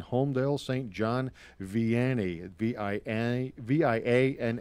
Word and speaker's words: Vianney: John Vianney vi-eeny VI a and n ey is how you spell that it's a Catholic High School and they've